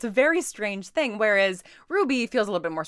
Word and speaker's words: RWBY: think Lauren that's right this is is pronounced Ruby and not RWBY is hard because I'm